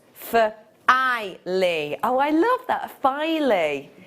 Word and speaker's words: Filey: like nail file e filey filey oh so it was neither finally pronounced for i lee oh i love that